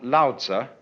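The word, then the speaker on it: Lao Tzu: The counterpart to Confucious, one called Lza, which is spelled L A O T Zu, is supposed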